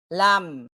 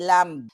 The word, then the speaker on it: lamb: lang 'yan alough hindi naman lahat ng ah pronunciation alam natin sabi nagkakamali tayo pero itong abogadang ito yan basic yan elementary yan lam hindi lamb kapag may mga nangyayari babalikan nila yung nakaraan